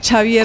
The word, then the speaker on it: Xavier: que son Javier Vendrell, que no se dice Javier Vendrell, sino Xavier como Vendrell, cuando le jugaban dicen los Xavi en el Barcelona.